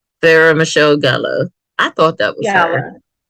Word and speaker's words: Sarah Michelle Gellar: Oh, I cannot pronounce names today. Buffy the Vampire. How you say her name? Sarah Michelle Gellar.